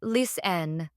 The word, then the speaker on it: listen: ignore them for example in the word listen the t is silent so it's pronounced Len not listen another classic example is